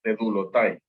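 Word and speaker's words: δεδούλωται: más consideré apropiado, pues siempre dice que debe pronunciarse la O y la U juntas como el inglés. Entonces se pronuncia como una U, así que sería dedulotai.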